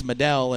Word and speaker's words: Madell: you guys were saying you guys were saying medal and I'm trying to tell you it's medell and you wouldn't listen